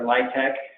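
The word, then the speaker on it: LIHTC: the low-income housing tax credit data set or lytec pronounced and so here are the local light tech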